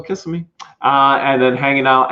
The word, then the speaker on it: Kissimmee: hulk fist pump in kissami just an incredible week all together uh with catching the new pigs i think it's pronounced kissimmee snow still kissing me uh and then hanging